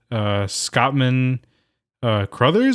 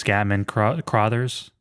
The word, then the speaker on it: Scatman Crothers: The genre is a psychological horror, and it stars Jack Nicholson, Shelley Duvall, Scottman Crothers, I believe. That's how you say his name? I think it's Scatman Crothers.